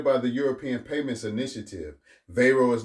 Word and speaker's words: Wero: They launched Vayro spelled W O pronounced VO. It is operated by the European payments initiative. Veo is not a card network.